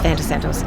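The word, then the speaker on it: Venetsanos: Vento Santos. It's not Santo Winery, it's Vento Santos.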